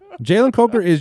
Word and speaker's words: Jalen Coker: Because our producer may have said his name wrong at one point in time. Oh, But yeah. Jalen Coker he's just one of those guys you watch play and Change you're like, the vowel sound.